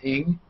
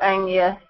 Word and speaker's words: Ng: I've always wondered how to pronounce NG. It's Ing. Oh, there's heaps of different pronunciations for it. I just go Anya. Ing. Okay. Anya. It's because it's a Chinese name. Yeah. Like, Yeah. Anya. Okay, No, two she says syllables. Ing. Yeah. It almost Just has more pronounce that syllables than ING. letters.